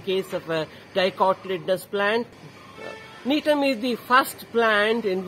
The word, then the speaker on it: Gnetum: The spelling of Gnetum is G-N-E-T-U-M. G is silent here, you must read it as Gnetum.